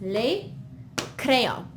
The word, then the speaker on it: les crayons: As you can see, the S is, we don't pronounce it. We write it, we see it when we read it, but it's just les crayons.